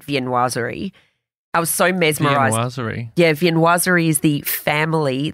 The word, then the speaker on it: viennoiserie: How would you pronounce that, Hugh? Viennoiserie. I love viennoiseries. Yeah, very good. Ah, viennoiserie. Yeah, viennoiserie. Like, it comes from Viennese.